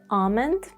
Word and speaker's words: almond: For example in calm and almond Americans may prefer calm and almond but mostly you would hear calm and almond.